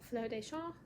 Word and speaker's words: Fleurs des Champs: It's spelled C-H-A-M-P-S, but it's pronounced Fleurs des Champs.